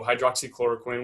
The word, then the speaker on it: hydroxychloroquine: So hydroxychloroquine, which you did pronounce correctly, and azithromycin, which is the medication they're combining it with.